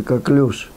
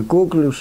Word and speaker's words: коклюш: Речь идет об инфекции, которая называется коклюш или коклюш, иногда так ударение ставят, так ударение ставят, это не принципиально.